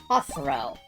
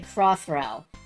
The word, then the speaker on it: Hosro: Throw and knowing the order of the name, it's pronounced to be pronounced Hosro. But for the longest time, you were saying crossro.